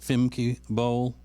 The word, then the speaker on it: Femke Bol: And her name is Femke Bol. Am I pronouncing it correctly? That's correct. Femke Bol.